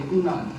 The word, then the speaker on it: Funan: And the name Funan is a mispronunciation, but in Chinese they don't know what it means, but it actually means Phnom.